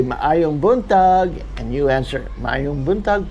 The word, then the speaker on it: Maayong buntag: Maayong buntag. So it's spelled with 2 A's, and you have to pronounce each A separately. Maayong buntag. Maayong buntag.